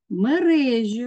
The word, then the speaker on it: мережі: Мережі наголос має бути на другий склад, камбала наголос має бути на перший склад, і тигрові наголос має бути на перший склад.